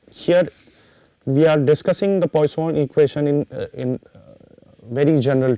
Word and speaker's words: Poisson: And, generally the pronunciation is ah not Poisson it is Poisson generally it is it is a French name it is ah pronounced as Poisson.